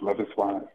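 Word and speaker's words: Loveis: love is wise yes their name is it's pronounced love is and they did I mean it's just an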